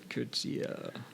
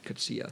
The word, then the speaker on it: Coetzee: Coetzee.